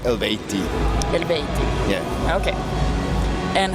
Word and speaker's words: Eluveitie: But according to language science, it would be pronounced Eluveitie. Eluveitie.